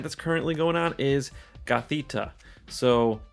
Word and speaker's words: Gothita: into the event that's currently going on is gothita so not gothida and i think that's how i was pronouncing it but uh it's cathete and that's